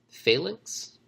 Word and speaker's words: phalanx: The next one, Drag Unity Phalanx.